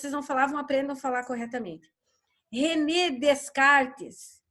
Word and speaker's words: René Descartes: René Descartes não existe, porque ninguém está descartando nada por aqui. Se escreve René Descartes, mas o nome é francês.